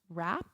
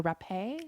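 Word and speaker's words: Rappe: Virginia I'm gonna say her name is pronounced wrap or repay I say repay but shall because I don't want to say rape but it is spelled our a PPE so I'm gonna say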